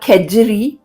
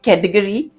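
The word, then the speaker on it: kedgeree: dish and it's called kajer it's spelled as k d e g e r e e many people instead of saying ker they say Kory but no problem whatever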